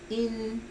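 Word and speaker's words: 阴: yin, en la parte yin? Acuérdense que cuando yo pronuncio yin, lo estoy pronunciando en español, pero la pronunciación en chino es in. La Y no se pronuncia.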